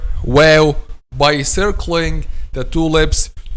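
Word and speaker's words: واو: lips, is the letter wow. So how we pronounce the letter wow? Letter wow, my dear students, is pronounced by closing the two lips without meeting completely.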